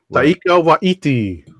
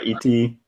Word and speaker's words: Waititi: Thor Ragnarok director Taika Waititi. Yeah. Say it one more time. Taika. I might be mispronouncing his last name. I'm going to take Taika a look. Waititi.